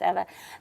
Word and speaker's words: Eva: Okay, Eva is, or Eva, I remember her name is pronounced Eva.